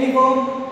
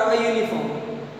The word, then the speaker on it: uniform: An uniform or a uniform? Think. So firstly you will pronounce it uniform.